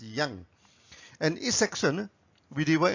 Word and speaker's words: yang: Some people pronounce it as yang. It's up to you, but in the original Chinese pronunciation, it's pronounced as yang.